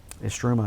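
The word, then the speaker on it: Istrouma: Estruma, yeah. Estruma is how you say it.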